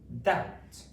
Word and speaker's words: doubt: Next one is doubt, doubt, d, ow, t, doubt, d, out, doubt. Okay. In doubt, we have a silent letter. Okay, we've got the B letter and it doesn't make a sound.